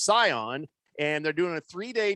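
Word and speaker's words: Sian: uh boogie says that her name is scion s-i-a-n it's pronounced scion and they're doing a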